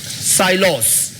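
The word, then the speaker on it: silos: एस आई एल ओ एस साइलोस। इसको साइलस भी पढ़ते हैं। साइलोस भी पढ़ते हैं। आप प्रोनंसिएशन की बजाय इसके स्पेलिंग और इसके मीनिंग्स पर फोकस रखें।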